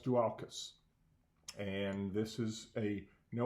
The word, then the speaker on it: Dualchas: family's in store this is two Mountain Dew alkis and that is the correct pronunciation Scott Fraser who is these regional sales